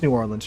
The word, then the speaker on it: New Orleans: New Orleans or nans it's New Orleans trust me I live very close to the city uh some people love to just I don't know have fun with the with the the pronunciation which you know who cares the pronunciation is whatever but apparently some people